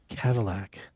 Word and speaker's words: Kavulak: I'd like you to meet Paul Cadillac.